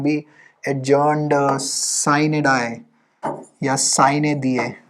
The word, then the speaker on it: sine die: Latin pronunciation is sine die, but sine die भी कई लोग बोलते हैं, but English वाली sine die, it Lok Sabha is adjourned sine die, right?